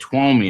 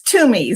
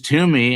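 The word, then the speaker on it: Twomey: the air, is it Twomi? Am I pronouncing it correctly? No. It it's tumi. So like the first three letters like the number two. Okay. So it is tumi.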